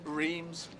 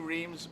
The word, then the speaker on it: Reims: No one could get their heads around it, but I knew it was pronounced a different way. You have to imagine it's spelled R-A-N-C-E. That's how it sounds.